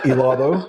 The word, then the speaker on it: helado: Helado. Gelato. Yeah. Yep. One you pronounce the G, the other you don't.